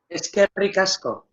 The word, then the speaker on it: Eskerrik asko: Eskerrik asko.